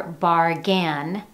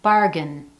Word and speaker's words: bargain: When we say number 1, you don't hear bargain, you hear bargain, bargain.